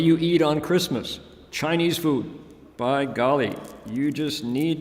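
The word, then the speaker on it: phở: F fo Faux restaurants pH fo pronounced fo in Vietnamese Vietnamese restaurant ANS worldwide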